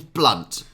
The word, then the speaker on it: Blount: own jokes oh really it's pronounced blunt whichever way you spell it anyone in the know